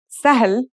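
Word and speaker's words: سهل: letters we've just learned our first word is sah meaning easy here we have an initial scene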